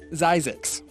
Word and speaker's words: Zzyzx: Not only is ZZYZX a real place, it has a real pronunciation. Zisacix.